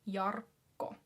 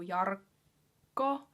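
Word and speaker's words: Jarkko: as the first name yarco a lot of rolling r's in this name and then the double k afterwards so yarco i actually have um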